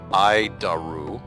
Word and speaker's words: ADIRU: So the adiru system also known as the air data initial reference unit we pronounce it daru IDU it's a horrible